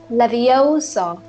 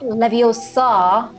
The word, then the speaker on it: Leviosa: someone's eye out besides you're saying it wrong it's leviosa not leviosa you do it then